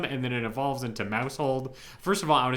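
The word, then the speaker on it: Maushold: then it evolves into Mousehold. First of all, I want to say these two Pokemon have very funny names. Uh mousehole. What? Mouse hole. Mouseold. Make sure you pronounce the end of it.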